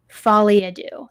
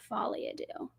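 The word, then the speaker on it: folie à deux: which could make sense Folia do that's how you say it follia do well I just learned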